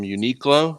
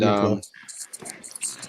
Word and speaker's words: Uniqlo: Well, basically, I bought some shirts and from Uniqlo, is that how you say it, Gil? Yeah, and, Uniqlo.